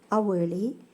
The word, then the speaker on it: hourly: Especially her words that begins with H, the consonant. So, all these words, air, honesty, hourly, all these words are voiced as though they begin with vowel.